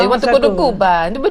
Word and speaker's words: Cuba: You want to go to Cuba. And I'm like, Cuba? No. Yeah. Cuba. That's right, we got to say it right. Give it some flavor.